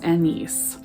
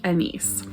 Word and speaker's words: Agnes: is Anne Hathaway, but this book calls Annice. Spelled like Agnes, and I don't think I can ever see the name Agnes again and not think of Annice.